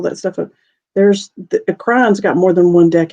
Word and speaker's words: Kryon: of cool stuff and the kryon it's spelled k-r-y oh i put c and that's okay almost like crayon i'm sure he's used